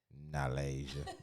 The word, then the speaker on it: Nalasia: Y'all gonna hear her name a lot, cause you said Nalasia. You gotta say it like you country. What's your name, girl? Nalasia.